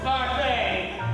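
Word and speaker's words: Barfée: It's pronounced Barfee. There's an accent, thank you.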